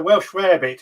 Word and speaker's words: Welsh rabbit: to the harvested right also welsh rabbit is the right pronunciation thank you i knew